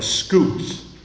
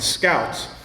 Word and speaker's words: Scoots: Um he also uh had a series about a guy named Tam of the Scoots. It's really should be Tam of the Scouts, but because he was Scottish, he pronounced it scoot.